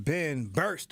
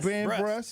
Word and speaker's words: Ben Brust: Mr. Ben Burst up in the building. Ben Brust. Yeah. Pronounce it right.